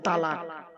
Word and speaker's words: তলাক: শব্দটা বলে তালাক। শব্দটা তালাক নয় বাবা, শব্দটা হলো তলাক। কি বললাম? তলাক, তালাক নয়।